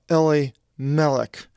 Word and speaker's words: Elimelech: And the name to the man was Elimelech. That's how it's pronounced in the Greek.